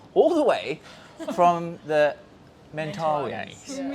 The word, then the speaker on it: Mentawais: the way from the Mentawais. Yeah. How do you pronounce it? Mentawais. Mentawais. Yeah. Mentawais. Yeah. That's the Australian way. We say Mentawais.